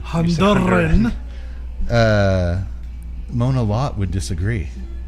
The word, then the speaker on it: Honduran: You don't have to roll your R's on Honduran. Honduran.